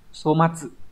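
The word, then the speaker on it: 粗末: 4 chữ Hán là chữ thô, chữ mạt, đọc là somatsu.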